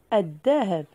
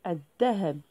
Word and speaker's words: الذهب: إذن لاحظوا الذهب. لاحظوا هناك التعريف ال، ولكن لام لا تنطق، نقول الذهب. إذن لاحظوا الدال مشددة.